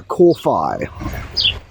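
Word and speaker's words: kōwhai: a new zealand native it's called kofi k o w h a i the w h being pronounced as an f f for freddie so it's a core phi it's also the word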